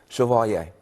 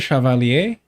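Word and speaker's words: Chevalier: Shiovalier. If we can't say right from wrong. Hold on. Hold on. You pronounce it shavalier.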